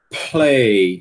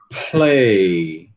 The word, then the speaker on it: play: gente já falou que p ele é aspirado quando tá em posição inicial, né? Ele continua aspirado mesmo se depois dele tiver um lã, certo? Então, a gente deve pronunciar essa palavra aqui, ó. Play. Vixe Maria, melou a tela todinha. Play, né? Tem que aspirar.